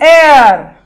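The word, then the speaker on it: heir: If you pronounce this word air, which has a H in the start, but the H is silent.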